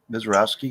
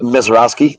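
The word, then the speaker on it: Misiorowski: Mizarowski. Mizarowski.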